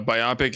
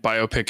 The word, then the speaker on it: biopic: so uh so uh biopic one uh british pronunciation and biopic is the american pronunciation so both are correct i've never heard biopic